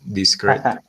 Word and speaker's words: discrete: Sí, profe, ahí con un poquito más pronunciada la T, pero sí, discreet.